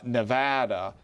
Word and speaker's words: Nevada: I think he holds on to Georgia and Arizona, Florida, Ohio, New Hampshire, Nevada. Pronounced it correctly for anybody watching in Nevada.